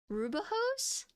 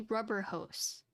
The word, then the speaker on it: Rubber Hose: Cause like, I thought it was like Rubahose, but it's actually rubber hose.